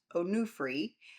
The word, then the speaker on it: Onufri: One is the Onufri Museum, pronounced Onufri, which is connected to the 16th century icon painter Onufri.